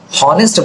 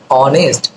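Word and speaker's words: honest: কিন্তু আমরা করছি না আমরা হনেস্ট বলছি না হনেস্ট বলি না আমরা কি বলি অনেস্ট ও এর উচ্চারণটা আসছে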